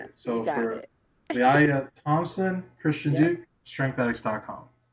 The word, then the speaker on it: Leila: Laila, is that how you say it? Laila? Leila. Leila.